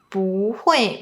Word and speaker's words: 不会: Another one, 不会 might be pronounced as 不会。